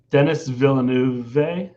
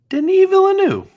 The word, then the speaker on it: Denis Villeneuve: oh my gosh, I'm going to pronounce his name wrong. No, you got it. Come on. Denis Villeneuve. Denis Villeneuve.